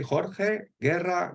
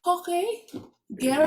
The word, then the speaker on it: Jorge Guerra: Well, if you say it like my mother, you'd say Jorge Guerra. Oh, Jorge Guerra. Yeah, Okay. That's thank you. Spanish origin, even if I'm living in Germany.